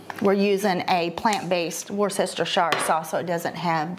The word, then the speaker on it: Worcestershire: I'm going to do about a teaspoon of Worcestershire sauce, and that's not how you say it. We're using a plant-based Worcestershire sauce, so it doesn't have the anchovies in it.